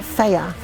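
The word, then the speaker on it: Fage: So with my, how did Luke pronounce it? Faya.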